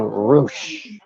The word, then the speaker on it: Rush: it's pronouncing roosh.